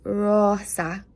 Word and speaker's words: rosa: Pink, you draw out the O. You're going to say rosa. So you have rosso, red, rosa, pink. Though rosa can also mean rose.